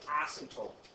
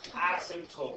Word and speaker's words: asymptote: You get something called an asymptote. What? Yeah, asymptote. So I think it's spelled out here for you, right here.